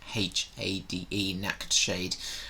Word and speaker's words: Nachtschade: So how it's spelled is NACHTSCHADE, Nacktshade. I do believe these guys are from Denmark or Germany, and they've been creating some very cool music.